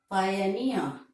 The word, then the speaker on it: pioneer: So, the last syllable is stressed. Career, volunteer. Pioneer, referee, refugee, and word ending with ee, mountaineer.